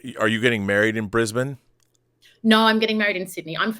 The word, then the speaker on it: Brisbane: going he's going to Brisbane and it's not Brisbane Americans say Brisbane but um that's when